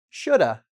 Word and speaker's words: should have: So, first we have: "should have" can be pronounced, repeat: "shoulda".